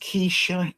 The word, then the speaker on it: Kesha: Uh I believe your name is pronounced Kesha.